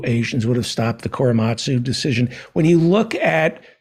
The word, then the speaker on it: Korematsu: Is that how it's pronounced? Yeah, Fred Korematsu.